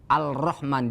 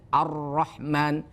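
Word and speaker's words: الرحمن: tidak nampak tidak terbaca Arrahman padahal ada tulisan lamnya Arrahman dibacanya Arrahman Alif lamnya tidak terbaca itulah yang disebut alif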